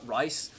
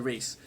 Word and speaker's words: Rhys: And so when people look at it for the first time, they always think it's Rice, but it's actually Reese.